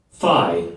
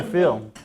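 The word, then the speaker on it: phi: Greek word fi Fe is pronounced with a long e sound like fee the English name Greek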